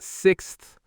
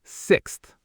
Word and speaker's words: sixth: It's not sixth, it's sixth. And this applies to all the ordinal numbers, by the way. First, sixth, ninth. I came in 6th place in the race. I live on the 1st floor. That TH sound is really important. Sixth, not sixth.